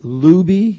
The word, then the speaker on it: Lubee: And you're with, is it Lubee? Is that how you pronounce it?